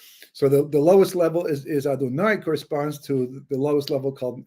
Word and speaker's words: Adonai: Well, it turns out that if you take the name Yud Kei Vav Kei, well, actually Aleph Daled Nun Yud, which we pronounce as Adonai, right?